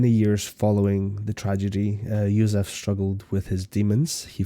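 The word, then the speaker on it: József: Joseph so is the English word, however, oh, so like Yusuf, Hungarian. okay. So, Yusuf, the accent on the O is that U.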